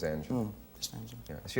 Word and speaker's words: Angela: I've seen it printed Angels and Angela. Which is the typo? Angela, Angie. Her real name is Angela.